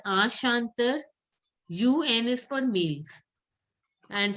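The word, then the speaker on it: chanteur: EUR is pronounced as Er. So Ashantar.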